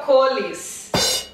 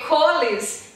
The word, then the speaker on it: Coles: If someone said Coles to me, I had no idea what they're talking about. Tá vendo? Eu não tenho a menor ideia do que você tinha falado. porque coles ninguém vai entender aqui. Como que é então, correto? Coles. Coles. Coles.